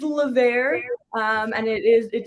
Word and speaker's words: Levert: tonight so let's say i love how you were saying lavere we have this contest in the office every time we hire someone new we say okay without it without us telling you how do you say it and it's a game now for us so it is levere um and it is